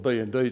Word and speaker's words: B&D: This is the bun tools, or I call it bun tools, but I spoke to them what the pronunciation should have been. They call it B&D tools.